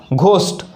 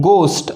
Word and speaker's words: ghost: हम अगर इसका उच्चारण करेंगे तो आएगा हमारा घोस्ट, लेकिन इंग्लिश में घ नहीं होने से देखिए ये मूलतः जो इनमें उच्चारण है उनमें घ है, तो इनका उच्चार वो करते हैं गोस्ट।